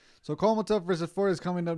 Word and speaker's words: Kholmatov: Raymond Foreman versus Otabek Kholmatov. Kholmatov. That's how you say his name. Kholmatov. So Kholmatov versus Ford is coming up next.